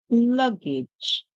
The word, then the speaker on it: luggage: or Y it makes it sound like J so in this one we hear J so we say age age then we add the to it so we have cage cage cage so this part of the word s the first part says lug page luggage luggage luggage what is our word our word is luggage our word is luggage